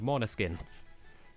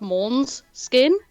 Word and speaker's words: Måneskin: I thought it was pronounced Mons skin.